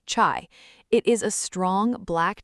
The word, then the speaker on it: chai: Turkish tea, chai, pronounced chai.